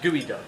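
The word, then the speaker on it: geoduck: fish you ever had so it's spelled g duck g e o duck but it's pronounced duck gooey Sor pronounced gooey duck what is this what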